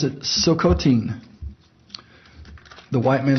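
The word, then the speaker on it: Tsilhqot'in: that the the nation is chilcotin t-s-i-l-h-q-o-t-i-n they pronounce it silcotin the white man says chilcotin they have been turned then why are you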